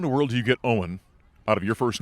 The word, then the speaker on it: Eoghan: And my mom chose Eoghan, which is Irish. And so that's where the pronunciation comes from.